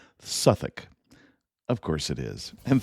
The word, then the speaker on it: Southwark: Note that in classic British style, Southwark is pronounced Suthick.